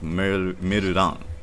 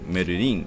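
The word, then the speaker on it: メルラン: It's pronounced like Merudan, with an A, not an I. You expect it to be pronounced like Merurin because it's Merlin, but it's pronounced with an A.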